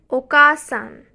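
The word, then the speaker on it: おかあさん: First, oka-san. Oka-san, the additional a sound is added after ka to emphasize oka-san.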